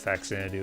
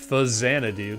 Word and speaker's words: Xanadu: And would have never guessed it had anything to do with Fact Xanadu in any respect. Also, someone else pointed out that I was pronouncing that incorrectly. And they're right. They're totally right. Xanadu, because it's Xanadu.